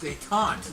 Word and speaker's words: détente: pronounced détente. Détente, okay.